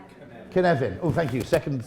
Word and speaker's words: Cynefin: And he's very proudly Welsh, hence the name of his framework, which I think is pronounced Cynefin. Is that right? Cynefin. Oh, thank you. Second syllable.